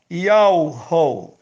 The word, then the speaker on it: Yahweh: Vital no YouTube e no Facebook, mostrando que a pronúncia do nome daquele que fez os céus, a terra e a fonte das águas é Yahweh.